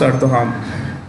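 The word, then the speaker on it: Erdoğan: Erdogan. Erdogan. Erdogan. Erdogan. Pronounce Erdogan.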